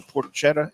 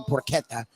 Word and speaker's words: porchetta: Is it porchetta or porchetta? I always say porchetta. He, who's from, I guess, Italy and New York, said porchetta. And I think Shirley pronounces it the same way, too, whenever I'm mispronouncing it. So I think you say porchetta.